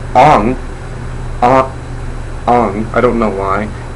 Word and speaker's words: Aang: Well, I'll get to the grammar issues later, but in the movie it's pronounced Ong.